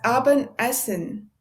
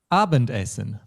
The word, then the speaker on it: Abendessen: Das Abendessen. Yes, I emphasized the word essen a bit. More naturally, we would say das Abendessen.